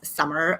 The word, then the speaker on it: Samar: and the fun fact my name is pronounced as summer like the season and uh you know if you ever feel confused about my name just think about the season summer right i am an